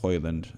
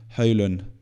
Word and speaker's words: Højlund: and better, especially with Højlund. Højlund, why am I saying it like an Englishman? Højlund. Rasmus Højlund. That's how you say it in Danish.